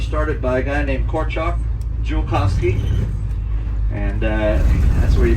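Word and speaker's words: Korczak Ziolkowski: All this project was started by a guy named Korchak Julkowski, and that's where you pronounce his name.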